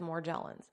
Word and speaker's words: Morgellons: them cure it so this doctor pronounced it as more jellins but he says that